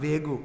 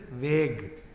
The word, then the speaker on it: vague: So the junior Swami said that, Maharaj, that pronunciation is not vegu, it is vague.